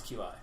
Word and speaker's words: Qi: through the FCC it's going to beqi um which is actually how you pronounce Qi oh is it really